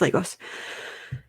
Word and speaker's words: Lagos: metropolitan city okay lagos lagos okay it is lagos i love phonetics it is legos continuing on